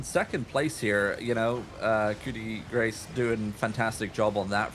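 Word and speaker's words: coup de grâce: I know it doesn't look like it, but it's Coup De Grace, actually, is how you say that.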